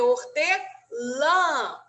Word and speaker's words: hortelã: Toda vez que vocês virem algum acento na palavra, geralmente é a sílaba mais forte. Então, vocês têm que pronunciar ela com mais intensidade. Então, aqui a gente tem o tio. Então, vai ser hortelã, tá? Coração, tá? Óleo, tá? Então, sempre tentem fazer com